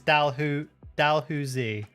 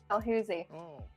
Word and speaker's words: Dalhousie: it's Dalhousie. Dalhousie.